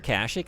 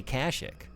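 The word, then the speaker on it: Kashyyyk: then have me say Kashik. You just can't do that to me. You can't put three Y's next to one another and then say, "And now go emphasize the other syllable, not this one."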